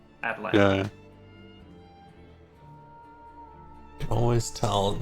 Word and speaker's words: Atlanta: was Atlanta, and so it's Atlanta now. And there's no T's in the entire word. Probably. Yeah. Just like that soft D, Atlanta.